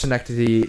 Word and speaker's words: Synecdoche: That's why I watched Synecdoche, New York, for example, recently. Is that how do you pronounce it?